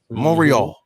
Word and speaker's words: Montreal: Zayn entering Montreal apparently you don't pronounce the T monreal Canada I'm enter the way